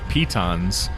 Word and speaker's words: piton: map are called pitons I had to look it up because it's spelled p I tio n but pitons apparently they're little pegs that